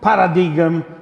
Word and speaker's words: paradigm: talking about the queen Paradigm cycle I know I should say Paradigm but it is stronger than me I cannot say a Greek word I cannot pronounce a Greek word in that American Way the change of paradigm